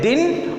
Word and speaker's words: दिन: जिनमें उच्चारण होगा, उच्चारण के आधार पर इसमें हम बोलेंगे दिन और इसको बोलेंगे दीन, तो उच्चारण के अर्थ के कारण इसका भेद किया जा सकता है।